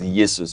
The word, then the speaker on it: Jesus: I think we should pronounce it as Yesus.